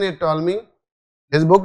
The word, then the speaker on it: Ptolemy: What is the pronunciation? Ptolemy. Okay, pronunciation is Ptolemy.